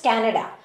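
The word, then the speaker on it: Canada: pronunciation है क्या right so the correct pronunciation is कनाडा और यह डिटरमाइंड कैसे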